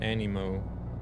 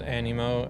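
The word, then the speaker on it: Aniimo: It's another creature capture game called Animo.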